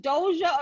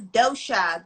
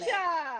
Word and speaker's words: Doshia: I just want to make sure, is it Doja or Doshia? Nope, it's Doshia. The I is silent. Dosha.